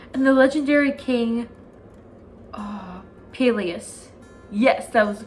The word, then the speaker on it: Peleus: if that's right and the legendary king ah peleus yes that was the correct pronunciation it's strong swift and beautiful irresistible to